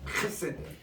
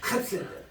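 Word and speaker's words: חסד: 따라서 헤세드. 혀 가래 뜨는 소리예요. 헤세드.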